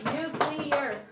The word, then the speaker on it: nuclear: Nuclear, but is it two syllables or three? No, it's three. Nuclear.